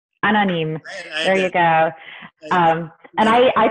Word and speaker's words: Anonyme: Is that how do you pronounce that? Anonyme. Anonyme.